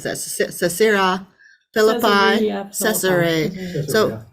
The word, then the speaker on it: Caesarea Philippi: so how do you spell how do you pronounce that Sarah Phillipi yeah so caesarea Philippi and then Galilee that was this is kind